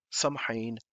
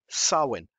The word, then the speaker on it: Samhain: Transcom about halloween or some hein pronounced saman so what is it